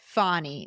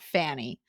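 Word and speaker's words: Fannie: to pronounce her name it's fonnie not Fanny love your podcast please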